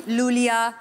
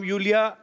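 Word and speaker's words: Iulia: Pronounce Yulia. Yulia. And yeah. The spellings are I-U-L-I-A. So I. Thank God, मतलब? You know. I mean, why I? Thank God. Everyone is calling me Lulia, Lolia, but Lolia I like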